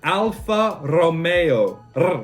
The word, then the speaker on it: Alfa Romeo: with alpha romeo now alfa romeo should actually be pronounced alfa romeo like r italians like to roll their ass so it's alpha romeo americans i don't know